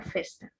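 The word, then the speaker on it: Foerster: Se escribe Foster, pero se pronuncia Fester.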